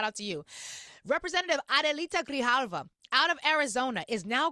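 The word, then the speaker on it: Grijalva: That really matters because today, Representative Adelita Grihalva, I hope I pronounced her name correctly.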